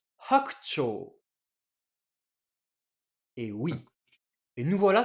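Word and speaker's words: 白鳥: prononcer hakucho.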